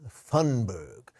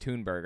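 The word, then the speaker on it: Thunberg: control anybody and also I think it's pronounced tunberg I looked this up I believe her name is Greta tunberg why does he think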